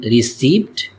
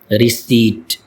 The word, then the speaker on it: receipt: It is commonly mispronounced as received but its correct pronunciation is receipt. Receipt. P is not pronounced in this word.